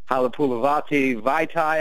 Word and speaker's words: Halapoulivaati Vaitai: We also drafted I'm going to mess up the pronunciation of his name, but Halapoulivaati Vaitai, I believe.